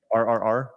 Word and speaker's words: RRR: Invasion of India am I saying it right r r r yeah you are yeah because I always say